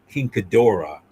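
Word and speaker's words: King Ghidorah: No, in in the English version, it's Gedra, but I'm saying the uh exact uh correct pronunciation, Kingdora, you know.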